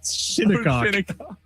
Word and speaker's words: Shinnecock: Shinnecock. Oh, what was that? It's spelled, you know what?